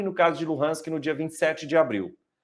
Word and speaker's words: Luhansk: Uma é chamada de Donetsk, a outra é chamada de Lugansk, e que normalmente a pronúncia é Luhansk.